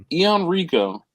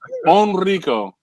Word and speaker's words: Enrico: It's Enrico. Yeah, it's on. I think it's like Enrico. Enrico.